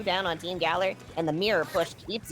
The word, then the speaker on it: Gaoler: And Gaoler, I've been told it's pronounced Gaoler, ends up...